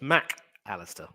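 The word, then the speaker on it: Mac Allister: Argentina and that's why whenever he writes his name the mac and the Alistar are separated so his name is officially pronounced Mack Alistair I'd also trying to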